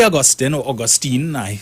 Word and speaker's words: Augustine: And they're zeroing in on this zipline issue, which Farley Augustine, that's how he pronounced his name when he was being sworn in, and Mr.